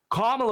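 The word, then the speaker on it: Kamala: It's say it's it's comma like a comma comma comma comma.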